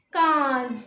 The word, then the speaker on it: quinze: तो 15 को लिखेंगे QUINZE और इसकी प्रोनाउंसिएशन लिखेंगे KAYHNZ। क्या बोलेंगे हम इसे? काज।